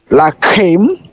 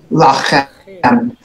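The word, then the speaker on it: לָכֶם: Kaf or Khaf? Khaf. Okay, once more. Lakim. Lachem. Yeah. Lachem. There you go.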